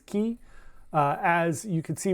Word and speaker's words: Caye: Uh you can say K or Key. The actual pronunciation is Key.